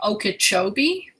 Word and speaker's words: Okeechobee: I hope so because I'm not too good with pronouncing things, but it looks like Lake Okeechobee.